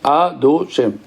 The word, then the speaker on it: Adoshem: Oui, si tu prends, ça se prononce Adoshem.